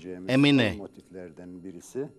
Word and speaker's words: emine: last motifs would be emine. Emine is a motif that is pronounced in three parts, in the duration of hey.